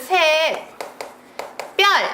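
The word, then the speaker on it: 샛별: 돼요 준표가 빠져야 됩니다 새별이 발음은 셋 별 이렇게 나지만 된소리 반영하지 않는다라고 했었습니다 그래서 셋 별을 기준으로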